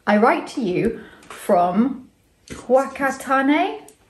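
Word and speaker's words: Whakatāne: I write to you from Whakatane, pronounced Whakatane.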